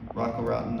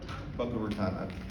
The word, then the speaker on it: Boca Raton: Being 1,300 miles away from Rocco Raton allows them to, I said that name wrong, Raton. Boca Raton.